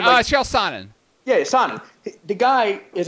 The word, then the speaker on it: Chael Sonnen: Is that how you pronounce his name? Yeah, Chael Sonnen.